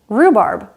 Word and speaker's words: rhubarb: H is silent after R, like in rhyme, rhythm, and rhubarb.